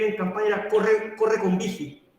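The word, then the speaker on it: Büchi: Vigi, se pronuncia. Vigi.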